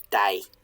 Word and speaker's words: dæg: It's die. D-G is how it's spelled, die.